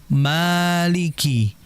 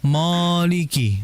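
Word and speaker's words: مالك: Bagaimana cara pengucapan mim fathah? di situ yatimmu wal maftuhu bil fathihami dengan cara apa? Membuka bibir kita. Maliki. Maliki ya jangan sampai moliki bukan mo ya ma.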